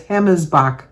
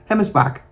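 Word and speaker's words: Hemmelsbach: She gave me a pronunciation, so I'm thinking the Bach, because that's Bosch, but I think it's Bach, B-O-C-H. Anyway, she spells her name H-E-M-M-E-L-S-B-A-C-H. And she showed me the pronunciation would be H-E-M-M-I-S-B-O-C-H. So I'm pronouncing that as Hemmesbach.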